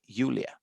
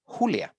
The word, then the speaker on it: Julia: the same way so if you were to pronounce this name in german you would say yulia and in spanish you would say julia right this is simply